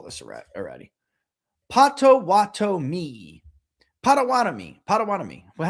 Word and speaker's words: Potawatomi: Potawatomi. Potawatomi. Potawatomi. Well, how did I say it? Let's do it again. Let's try. Potawatomi. Potawatomi. Or you're saying spread it out. Potawatomi. Like that. Say it like that.